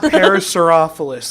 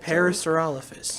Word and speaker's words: Parasaurolophus: Not Parasaurophilus. Like, why does everyone think it's Parasaurophilus? I've corrected a lot of people in my day. I don't really know how to pronounce it. I'm just going to butcher it. Parasaurolophus. Parasaurolophus? Parasaurolophus. Parasaurolophus. It's not that hard.